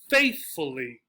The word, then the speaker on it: faithfully: And again, 4-syllable words, possibly even 5 or more, that end in this suffix will get stressed on the first syllable, right?